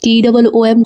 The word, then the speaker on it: tomb: TOMB इसे tomb TOOM tomb pronounce करना है।